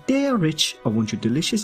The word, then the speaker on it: Derich: you say my name try saying dare Rich Kitty can you say d Rich for me please I love when you say my name Kitty it is deadish 15 days ago we